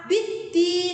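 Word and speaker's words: بِالدِّينِ: Kemudian pada lafal biddin itu adalah al-syamsiyah, di mana ada huruf dal setelah alif lam, maka biddin harus ditekan.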